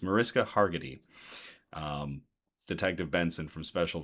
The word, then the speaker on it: Mariska Hargitay: So, it's definitely the Mariska I always get her name her name wrong. It's Mariska Hargitay.